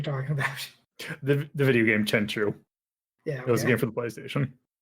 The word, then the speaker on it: Tenchu: Okay, but is it Tenchu or Tenku? That one I always says Tenchu. Yeah, I always knew it as Tenchu.